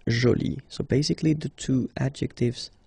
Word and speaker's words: jolie: get Jolie okay so you can see that you put this but then you don't pronounce it okay so it's Jolie so basically the two